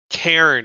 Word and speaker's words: cairn: can knock over that cairn if you want. Where's Karen? We'll just Can I see your manager? cairn. It's one syllable.